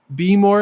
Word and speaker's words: Behmor: It's spelled BEHMOR. Beemore 1600 Plus.